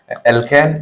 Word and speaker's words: অ্যালকিন: অ্যালকেন, অ্যালকিন এবং অ্যালকাইন, এগুলো শুধু সমগোত্রীয় শ্রেণী।